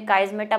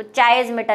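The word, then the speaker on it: chiasmata: तो काइज़मेटा, और गूगल पे मैंने इसका प्रोनाउंसिएशन भी देखा हुआ है, काइज़मेटा ही कहते हैं इसको, चाइज़मेटा नहीं कहते।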